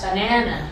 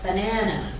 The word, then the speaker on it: banana: board banana in Spanish in English the second syllable is stressed banana banana however we look at